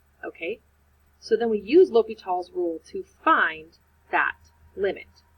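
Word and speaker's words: L'Hôpital: And I'm going to make this notation that I use L'Hopital's rule. It's just spelled like hospital. It's just not said like hospital.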